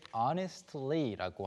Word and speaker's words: honestly: 자, 솔직히라고 할 때 honestly라고 하는데요. 이제 T 발음이 중간에 발음이 잘 안 되는 경우가 많이 있습니다.